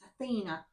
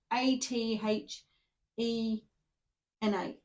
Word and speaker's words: Athena: It's Athena. A T H E N A.